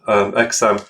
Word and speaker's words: XAMPP: So once you've downloaded Xampp, Xampp is pronounced Xampp. I've heard it pronounced Xampp.